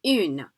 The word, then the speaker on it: un: So which makes that difference versus un and une. They're both one, but the N's do not get pronounced if there's no E following it, and the vowel in front becomes nasalized, so it's un.